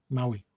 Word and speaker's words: Maui: How do you pronounce that? Is it Maui? Maui.